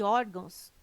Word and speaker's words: órgãos: ah e tem correto caráter intransferível e órgãos tem sua sílaba tônica na penúltima sílaba são paroxítonas observação poderia gerar dúvida